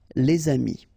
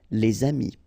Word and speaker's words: les amis: If you've got a word after and then it's starting with a vowel like this one, amis, friends, then you should make the liaison, les amis. All right, les amis.